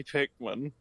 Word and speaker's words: Pikmin: No, I lost all my Pikmin. No, What is that's Pikman? not true. It's spelled pay.